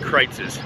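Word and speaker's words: Kreuz's: But it's pronounced Kreitz's.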